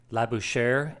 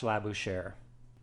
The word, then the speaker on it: Labouchere: agreement that it's pronounced la bouche air and forgive my bad French pronunciation but I think that's pretty close hitting that R sound at the end and let me show